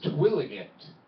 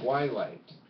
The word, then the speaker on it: Twilight: I looked at the poster and I said, "What is Twilligate?" My friend was like, "Oh, that's pronounced Twilight."